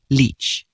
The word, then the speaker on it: lic: Completely unrelated to both latcher meaning doctor and latcher meaning leech, the Old English word for body is, coincidentally, pronounced leech.